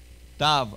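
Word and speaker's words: תו: Tav. A tav is a T. A T.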